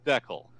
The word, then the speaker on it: decal: frankie IL pil that canadians pronounce the word decal like Beckel ok so it's a Canadian Benito I'm from Vancouver and I almost always hear it pronounced deckle I almost always snicker